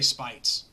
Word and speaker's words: Speights: you say his name Speights as the speech speights SPE IG HT s will just say spikes but it's good because